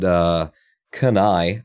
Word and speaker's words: Kanai: And Kanai, I believe, was how she pronounced her name, Cani.